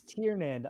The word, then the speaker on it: Tiernan: It's Tiernan, like almost like Tiernanog, like Tiernan. Roger that.